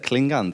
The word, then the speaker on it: Klingande: Klingons am I saying it right I believe I am yeah a Klingon is the right pronunciation it's the right way